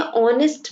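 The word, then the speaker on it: honest: ठीक है, यहाँ पर देखिए जब आप कहते हैं ऑनेस्ट मैन, यहाँ पर एच साइलेंट है, आपको ओ की साउंड आ रही है जो कि एक वॉवल है, इसीलिए यहाँ एन लगा है।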